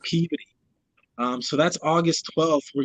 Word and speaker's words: Peabody: Massachusetts, in Peabody, spelled like Peabody, but actually pronounced Peabody.